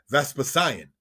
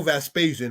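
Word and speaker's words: Vespasian: Nero slew as many Israelites as he could vespasion or vaspasian by pronunciation sent by Rome he attacked the Israelites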